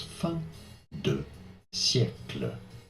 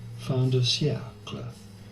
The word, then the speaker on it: fin de siècle: In France, in French, we would say it as fin de siècle.